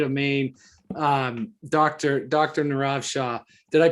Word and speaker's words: Nirav Shah: this small state of maine um doctor dr nirav shah did i pronounce that right you did rob and it's